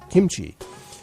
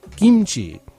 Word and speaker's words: kimchi: us uh who are with the US military pronounce it kimchi but actually if I were a Korean or were wanting to uh pronounce it correctly as a Korean would I should be saying kimchi and if you keep that in mind uh